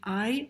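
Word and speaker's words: 爱: Zum Beispiel hier das Zeichen für Liebe, das im Mandarin Ai ausgesprochen wird und im Kantonesischen Nuo.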